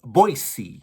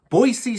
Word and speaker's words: Boise: so Boise State and it's boisey is how they pronounce it up there in Idaho boisey State the Broncos travel